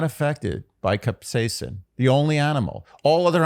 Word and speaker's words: capsaicin: I thought it was like capsicum. That's one pronunciation. But yeah, capsaicin.